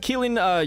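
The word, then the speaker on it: Qilin: Kilin, you know, the Chinese equivalent. This is same thing, but the Q really messes me up. I don't know why. I know it's pronounced like a K, but hey, it gets me, man.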